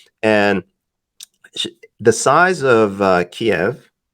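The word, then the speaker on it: Kyiv: sh- the size of Kiev, right? I said it right. I don't know. It seems to be some debate now. I was always taught Kiev, but now Kiev, apparently it's Kiev.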